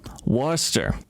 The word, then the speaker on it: Worcester: a pretty juicy one this week from uh worcester massachusetts from where worcester i'm sorry could you say that one more time worcester i am just not hearing it right i